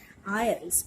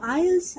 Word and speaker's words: isles: It's written as isles. And people upon you for thousands of miles. So isles and miles.